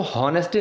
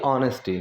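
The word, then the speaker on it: honesty: ईमानदारी, ऑनेस्टी, अब इसको हॉनेस्टी नहीं बोलेंगे, एच से स्टार्ट है, लेकिन जो इसकी प्रोनाउंसिएशन है वो होगी ऑनेस्टी।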